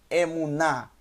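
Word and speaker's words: אמונה: o câmera lembrando que o rei no final da palavra não tem som assim como o ali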